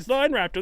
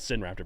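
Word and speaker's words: Sinraptor: Also, I pronounced it Sin Raptor back in the day. We're finding out it's like sign, like Chinese. Once again, math, sine, cosine, It's true. It's not cosine raptor or tangent raptor.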